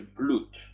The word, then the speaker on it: blut: Pisze się blut. Czyta się blut.